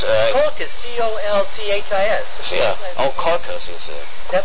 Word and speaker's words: Colchis: It's Colchis, Colchis.